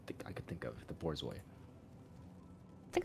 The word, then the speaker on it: Borzoi: Oh, Comparing it to the most fucked up dog I could think of, the Borzoi. I think it's pronounced. It's not pronounced bourgeois. Okay. That was Borzoi.